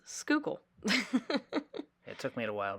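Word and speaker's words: Schuylkill: do you pronounce that because if you see it it's a really weird looking word yeah it is but it's skookle it took me a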